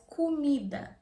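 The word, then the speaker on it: comida: moving on Fourth call Mida or you can pronounce CEO ES kumida that means food in general what are you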